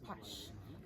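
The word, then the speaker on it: Pax: That's the word God known as pash. P A X. The X is always pronounced as sh.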